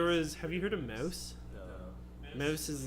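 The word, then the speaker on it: Maus: It's spelled M-A-U-S. Oh, mouse.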